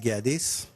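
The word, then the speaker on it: Geadis: Gadis.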